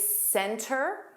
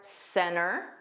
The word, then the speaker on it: center: In this clip, the speaker didn't pronounce the T. Another common word is center or center.